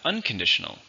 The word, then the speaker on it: unconditional: Next we have unconditional, which means without conditions, it will happen no matter what. Still an adjective. 5 syllables, stress on the second.